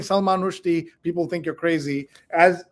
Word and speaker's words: Rushdie: Did you know that you've also been saying another name wrong? Instead of Salman Rushdie, the way we all say it, it's Rushdie. Rushdie. Rushdie instead of Rushdie. But if you go around saying Salman Rushdie, people think you're crazy.